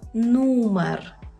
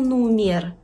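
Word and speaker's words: numer: У польській мові «е» читається як звичайне «е». Ні в якому разі не «є», це не російська мова. Наприклад, ми маємо слово «серце», значить чітко вимовляємо «е». «Серце». Не серце, серце. Наприклад, ми маємо слово «нумер». Не кажемо «нумір», «нумер». Погодьтеся, що є різниця між «нумер» і «нумір». «Нумір» неправильно. «Нумер».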